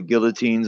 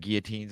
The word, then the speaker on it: guillotine: The video of the train that came in with all the guillotines on it. It was about before that. I heard that one. Yeah. Canada bought like 290,000 guillotines or something.